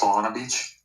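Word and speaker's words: Solana Beach: First of all, it's pronounced Salana Beach, and it's been my hometown for most of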